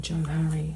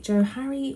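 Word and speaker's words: Johari: in and have a quick let's type in Joe hurry should come up if you're interested it's spelled j-o-h-a-r-i um so let's have a quickly and see what this says okay so the Joe Harry window model is um it's a grid and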